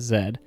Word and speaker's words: Zed: he's late and introduces himself as Zed. which always confused me until I learned places like Canada pronounce Z like that.